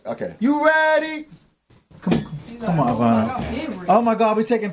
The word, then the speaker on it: Ivana: We should do Ivana. Thank you. Ivana. Oh, I said it right. You had it right the first time. Ivana.